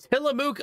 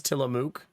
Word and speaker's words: Tillamook: Tillamook ice cream.